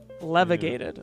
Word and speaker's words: levigated: i just said that it's like levitated but with g levigated well let's think about